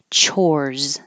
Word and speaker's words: chores: real ch ch sound chores looks like an S sounds like a z I have chores